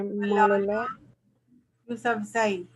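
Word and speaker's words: Malala Yousafzai: Pronunciation क्या करेंगे? मलाला यूसुफजई. मलाला यूसुफजई.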